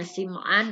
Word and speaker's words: Sim'an: ya ada yang membacanya Sim'an, ada yang Sam'an. Namun yang lebih masyhurnya itu adalah Sim'an.